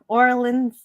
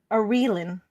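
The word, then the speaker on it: Aurelan: Orlin's cries. Orelin. Thank you. I did make Scotty in charge of figuring out how to pronounce her name. Orelin.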